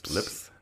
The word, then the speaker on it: Lipes: But, Directed by Jody Lee Lipes, looks like. Lipes. You say Lipes? Lipez? Lipes? Lipes? Lips. Lips. This is the pronunciation part of the podcast.